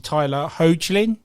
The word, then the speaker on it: Tyler Hoechlin: The fact that we stuck with, I'm going to really hate pronouncing his name, it's obviously Tyler Hoechlin. Yeah. Hoechlin is who plays Superman.